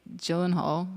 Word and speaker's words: Gyllenhaal: In close seconds, Jake Gyllenhaal, is that how you say his name?